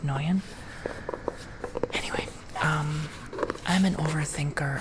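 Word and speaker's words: Nguyen: It's not Niguan. I know that I struggle to pronounce Nuan. Noan, I think. Joseph Noyen.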